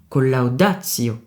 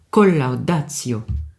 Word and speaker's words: collaudatio: Mais là, on ne dit pas collaudatio, mais c'est collaudatio.